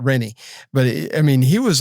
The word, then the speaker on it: Renee: guy's name was renie was spelled like Renee but he called it renie but I mean he